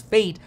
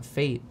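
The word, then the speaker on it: FAIT: flexible average inflation targeting known as fate f-a-i-t flexible average inflation targeting pronounced to fate anyway let's get back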